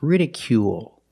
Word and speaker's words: ridicule: rical or ridicule it's ridicule make the long oo sound plus the dark L at the end of the word ridicule ridicule is a